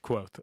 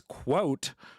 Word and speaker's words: quoth: Like Quouth, quoth. Okay. Oh, you shaking your head like you know the fucking word, right? Well, yeah. I didn't, right? So I'm like, bitch, it's quote.